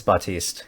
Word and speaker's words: Batiste: Baptiste, Baptist, I have no clue. I could actually look it up right now. Hold on. It's Batiste. Cool. E is silent.